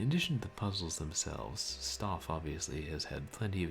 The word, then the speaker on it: Stauf: In addition to the puzzles themselves, Stoff obviously has had plenty of years to come up with the quips. Of course, if it is an anagram of Faust, maybe it should be pronounced Stauf.